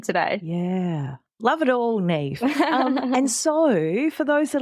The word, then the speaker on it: Niamh: Yeah, it's my initials because my name is spelled Niamh, and that would just be terrible for business because it's pronounced Neve.